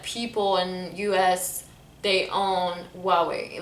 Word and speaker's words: Huawei: you never heard about it shame on you huawei huawei so that's how you say it i'm gonna